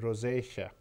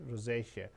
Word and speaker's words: rosacea: Google कीजिए, इसको तो इसको कहते हैं रोज़ेशिया, ROSACEA, इस तरह का कोई स्पेलिंग है, रोज़ेशिया, CEA, रोज़ेशिया, एक्ने रोज़ेशिया भी कहते हैं इसको।